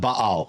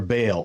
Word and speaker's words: Baal: Then we have Baal, or Baal, or as it's spelled in COS, Balu.